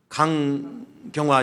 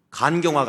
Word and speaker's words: 강경화: 강경화 장관하고 간경화가 아니라 강경화입니다. 제가 발음 잘못하면 오해되니까.